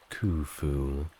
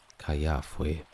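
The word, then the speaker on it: Khufu: means Kum protect me while modern pronunciation is kuu during his time it may have been more closer to Caya and later kwaf he used two versions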